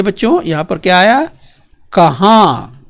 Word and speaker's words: कहाँ: कहाँ। उच्चारण देखिए, यहाँ पर ऊपर क्या है? चंद्रबिंदु है, कहाँ। और ये क्या है बच्चों? कहा। तो ऊपर चंद्रबिंदु नहीं है, तो ये देखिए दोनों में अंतर जरा ध्यान से समझिए।